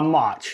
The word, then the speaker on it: Mauch: unmute there uh and uh it's is it pronounced mark m-a-u-c-h a march in jared march so what you're going to